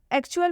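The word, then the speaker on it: actual: एक्चुअल में टी का उच्चारण च से किया गया है।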